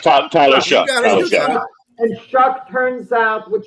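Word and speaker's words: Shough: It's Tyler Shuck.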